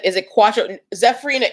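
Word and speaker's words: Quatreau: is pronounced quantro and this new drink is pronounced cuatro all right so um roxamilla is saying that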